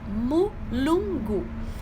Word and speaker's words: mulungu: Uma erva muito interessante dentro dessas que eu falei é a mulungu. Se escreve exatamente do jeito que fala, mulungu.